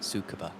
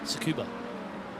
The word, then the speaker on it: Tsukuba: like, if you could have 60 cars at Tsukuba, and good luck avoiding 59 cars at I've Tsukuba.